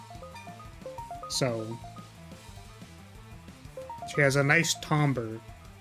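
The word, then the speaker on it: timbre: she has a nice tomber curious pronunciation of tomber was like Timber that's like yes the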